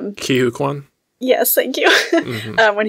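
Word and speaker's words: Ke Huy Quan: And in the trailer, when and I don't want to say his name wrong. Kihu Kwan?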